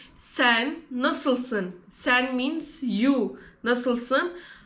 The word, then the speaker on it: nasılsın: In Turkish, we pronounce nasılsın.